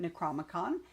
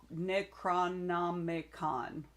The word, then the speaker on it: Necronomicon: Davis's books uh that she bought from him maybe last year at Necroicon. Necronomicon. I missed a syllable in Tampa.